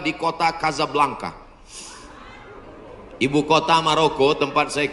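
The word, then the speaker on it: Casablanca: Hasan 2 di kota Kazablanca. Ibu kota Maroko. Tempat saya kuliah. Nama negaranya Maroko. Ibu kotanya tulisannya Casa Belanca. Cara bacanya Kazablanka.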